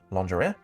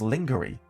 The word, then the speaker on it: lingerie: he was in his an English word, lingerie, completely wrong, and phonetically as lingerie instead of lingerie.